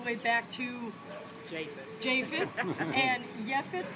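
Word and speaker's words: יפת: Japheth in Hebrew, Yefet. J and Y, very often between languages, overlap.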